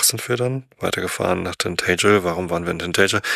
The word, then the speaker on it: Tintagel: Das ist nicht Tintagel, sondern Tintagel, weil das A so ein flaches, kurzes ist, wie in Matt oder Cap. Tintagel. So, Betonung auf der zweiten Silbe.